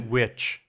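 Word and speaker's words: The VVitch: he did the lighthouse it's pronounced witch the vitch Witch how is like his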